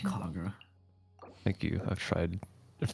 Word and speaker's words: Kagura: Kagura. Thank you. I've tried to practice. I've heard the R, the little like R sound is very difficult, even though there's no R in the word.